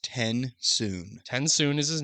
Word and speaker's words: TenSoon: His father sat in his chair speaking quietly with Tensoon, the Venture Condra.